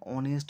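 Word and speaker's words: honest: এক নাম্বারে দিয়েছি অ্যান অনেস্ট ম্যান অনেস্ট ম্যানের অনেস্ট এর এইচ টা কিন্তু কনসোনেন্ট কিন্তু তা সত্ত্বেও এন লিখলাম অ্যান অনেস্ট ম্যান তার কারণ হলো অনেস্ট উচ্চারণ করতে গেলে প্রথমে অ সাউন্ড আসছে অনেস্ট অ প্রথমে আসছে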